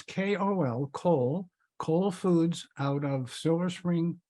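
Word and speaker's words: Kol Foods: Can you mention that again and maybe spell it? Oh, sure. It's 3 letters. It's KOL, Cole Foods out of Silver Spring, Maryland.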